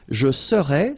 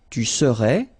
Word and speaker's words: serais: Je serais, same thing here, final S not pronounced. Tu serais, final S not pronounced.